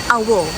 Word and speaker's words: AWOL: And by the way, ang pag pronounce pala ng campsite is camp AO because it's adventure without limits.